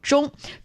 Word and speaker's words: 中: So 中 itself, the initial for the 中 is 知.